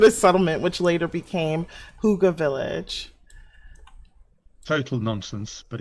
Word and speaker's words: Hygge: Wait, how do you pronounce it again? Um, Huga.